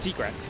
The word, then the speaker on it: Tigrex: But yeah, you know, like we get told, you know, this is, you know, how we pronounce it, which is why I say Tigrex now.